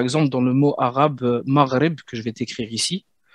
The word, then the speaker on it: Maghreb: Qui se prononce en voilà, Maghreb. Mais en arabe, on dira plutôt mar, comme j'en ai marre. Et le R de l'espagnol Roberto, Maghreb.